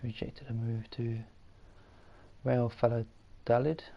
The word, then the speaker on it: Valladolid: So it's rejected a move to Real Valladolid, I think it's pronounced. Valladolid, yeah.